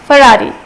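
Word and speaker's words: Ferrari: और वैसे भी ये एक फेमस कार है, तो इसको फरारी कहा जाता है, ना कि फिरारी।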